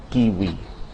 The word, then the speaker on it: kiwi: Although its pronunciation varies somewhat from region to region, you can safely pronounce it like the W in watch. Washington and kiwi.